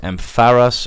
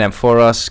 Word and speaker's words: Ampharos: the future is going to proceed but it's pronounced Ampharos apparently feels very strange to say so I'm going to keep saying I'm for us because I'm an idiot and I did it